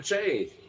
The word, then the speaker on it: Che: Che Guevara. Like Shay.